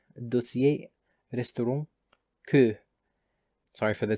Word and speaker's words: dossier: For example, in French, these are pronounced as information, étiquette, dossier, restaurant, que.